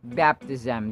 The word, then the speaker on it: baptism: daughter's baptism scrimp baptism baptism the stress is on the first syllable not on the second one It's baptism it's not baptism It's baptism This is also the